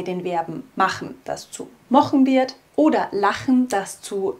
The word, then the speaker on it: mochn: Das machen wir zum Beispiel auch bei den Verben machen, das zu mochen wird, oder lachen, das zu lochen wird.